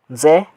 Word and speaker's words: Nze: Se or Nze, how you'll pronounce it, but N there is silent.